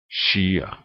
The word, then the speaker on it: skyer: It's sh as in English ship. In Norwegian, s j s k e s k j and sky would be combination. Would in Norwegian has this sound and this pronunciation. Sjelden. She. Skyer. Sjelden, she, skyer. Same sound as in ship.